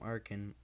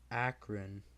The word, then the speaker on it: Akron: rumors of an AWOL from Arkin Akron been saying it wrong I have an a